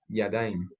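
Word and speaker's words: ידיים: Entonces, por eso acá la dalet se pronuncia con la A y se hace la terminación yod mem, yadaim.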